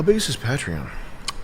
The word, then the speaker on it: Patreon: Patreon.